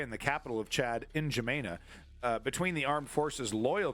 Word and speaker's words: N'Djamena: Yeah, pronunciation is literally the first thing that comes up. All right, here we go. Oh, N'Djamena.